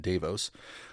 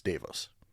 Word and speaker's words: Davos: with the wef in Davos which I know it's pronounced davo but nobody's calling it davo anymore so Sweden needs to change it it's Davos Just go with it